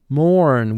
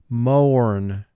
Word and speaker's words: mourn: has four sounds mourn mark the word mourn o is not a team here if o-u-r were a team and represented the sound er we would pronounce the word mern but the closest way